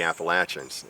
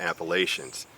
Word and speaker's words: Appalachians: you're from the southern part of the country it's the appalachin and if you're from the northern part it's the Appalachians but there is one little trick you can use to remember how to pronounce it correctly if you don't say